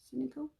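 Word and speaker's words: Sensical: think it's called cynical s-e-n-s-i-c-a-l that's how you pronounce it cynical which is a brown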